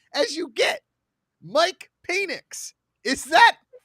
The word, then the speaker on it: Penix: Washington he's still having it's pronounced Phoenix okay I've heard it both ways Mike penix okay the man Man's